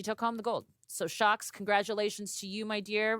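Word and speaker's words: Sjokz: about in a second, known as Shocks, but it's spelled with an SJ, not H, whatever.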